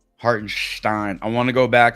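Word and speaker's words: Hartenstein: feel like this year they've really really been pronouncing it with the Stein in there and I don't know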